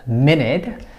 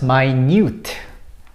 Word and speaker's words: minute: have two different pronunciations first the word minute is pronounced like this in a phonetic symbol minute and it is a unit of time however when it is used as an adjective to describe something so small then the pronunciation becomes very different it becomes my and it becomes my newt totally different and it